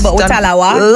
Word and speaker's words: talawah: Because I mean Jamaicans they have this saying little but we talawa. Did I say it right? Definitely little butawa.